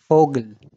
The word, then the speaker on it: Vogel: But when it comes in word, it sounds as F. For example, Vogel, Viel, Vater.